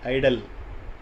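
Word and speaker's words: idle: ஐடிஎல்இ, ஐடல். ஐடியல் வேற, ஐடல் வேற. உச்சரிப்பு பாருங்கள் ஒன்றா வருது, ஆனால் வானத்துக்கும் பூமிக்கும் உள்ள டிஃபரன்ஸ்.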